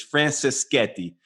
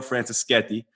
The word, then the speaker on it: Franceschetti: fake American Italian but uh Mato and the pronunciation of his last name is Francis Sketti so that's how you say his name Matteo Francis Sketti and he is the founder co-founder and CEO